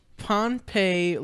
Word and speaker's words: Pohnpei: It's just another place that sounds like Pompeii, but it's spelled differently.